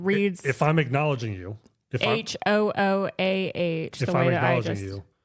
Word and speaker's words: Hooah: Hoo-ah. You don't know how to say it. I don't. That's the Army battle cry. You say cry. it. It's hua.